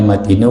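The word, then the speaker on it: مَتِينُ: Ya, bacanya matinu karena itu sifat dari hablun, bukan kepada Allah.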